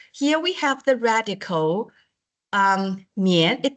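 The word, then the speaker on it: 宀: For example, here we have the radical 棉. It pronounced as 棉, or we can also say 宝盖头. When you are learning Chinese, we say this is 宝盖头, or it pronounced as a 棉, meaning roof.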